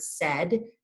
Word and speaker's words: said: If I asked my students to sound out the word said, they would likely get that S and the D sound at the end. However, the in between, the middle AI, does not say I, like my kindergarten students are familiar with.